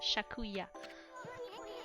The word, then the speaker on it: Sakuya: Young wood sprite Sakuya, or as she says it, Shakuya.